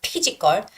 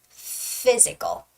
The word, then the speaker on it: physical: F pronunciation right so whenever you see the words that have pH in it it's always going to be f f cell so it's not pichico it's physical physical and encountered encountered don't